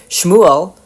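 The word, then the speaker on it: שמואל: Shmuel, which is how the name is pronounced in Hebrew, thus means something like, "His name is El."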